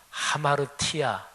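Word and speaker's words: ἁμαρτία: 헬라어로 죄, 죄를 뜻하는 단어가 하마르티아 이렇게 발음합니다.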